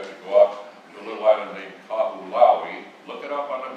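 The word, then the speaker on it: Kahoʻolawe: You have to go out to a little island named Kahulaui. Look it up on the map, Kahulaui. You know, it's interesting because those languages over there, every vowel is pronounced.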